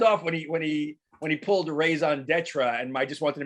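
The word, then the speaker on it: raison d'être: No, I didn't roll the R as much as I should, but I figured like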